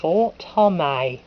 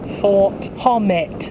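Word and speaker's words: Fort Hommet: I'll make sure Radio Guernsey pronounces place names properly, like Fort Homay. It's not Fort Homet.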